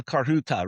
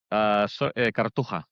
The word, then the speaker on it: Cartuja: Estadio de la Carhuta, right? Is that how you pronounce that? Cartuja. Yeah, Cartuja. Okay.